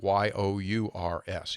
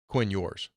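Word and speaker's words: Ewers: yours right yeah like it's e-w-e-r-s but it's pronounced like y-o-u-r-s yours that's the best way to look at it Quinn yours Quinn yours yeah hey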